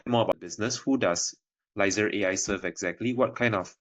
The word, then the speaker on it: Lyzr: Yeah, like analyzer, Lyzr.